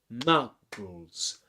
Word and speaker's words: Muggles: The word Muggles has two syllables, Muggles, and the stressed syllable is ma. Okay, we say Muggles, Muggles. That's only one stress, one stressed syllable, but unsuspecting has two stressed syllables.